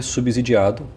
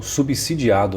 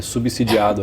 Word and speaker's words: subsidiado: E isso também é subsidiado ou subsidiado né muitas pessoas falaram para eu parar de pronunciar com som de z beleza é subsidiado aí pelo governo e